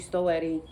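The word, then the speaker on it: Stoete: But I'm also going to be reborning an Asian sculpt, Suki by Adri Stoetti. And that is how you pronounce her last name.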